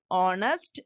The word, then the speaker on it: honest: is starting from edge H is silent there so we have to use and he is an honest man for she has